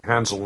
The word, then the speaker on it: Hansel: SEL 부분을 ZL 이렇게 주로 발음하고 있고 세게 발음하면 약간 칠 이렇게 들렸었죠.